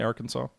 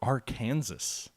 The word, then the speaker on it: Arkansas: a tactical battle hey arkansas how you doing or are kansas i know that's not how you pronounce it okay shouldn't we